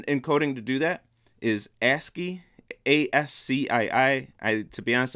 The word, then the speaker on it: ASCII: that's what they went for at least it's pronounced you know ascii you know maybe that's what they went for